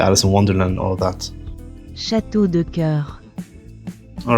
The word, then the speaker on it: château de cœur: château de cœur All right, we got the pronunciation correctly and it does mean castle of hearts.